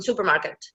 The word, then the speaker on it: supermarket: can ask them like where is the stress in in Superman supermarket you see in the first syllable or is it in